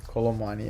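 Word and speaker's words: Kolo Muani: Colomwani? Yes, Colomwani, yeah.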